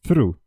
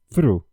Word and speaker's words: through: Então, além da gente ter o que é a língua entre os dentes, tem também o som do R logo em seguida. Então, through, through. Assim como é a pronúncia do número 3 em inglês, three, three.